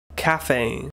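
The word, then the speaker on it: café: Cafe.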